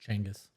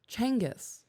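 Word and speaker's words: Genghis: the baby I'm not genas Khan like and there are women genas Khan is that dude right he he was the Mongol yes okay his name was actually pronounced Changas really yeah Changas there are women out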